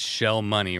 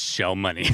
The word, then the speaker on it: Cjell Monē: was like all right let me just make sure this right it's shell money right and he's like yeah don't pay any attention to how it's spelled it's shell money okay that was like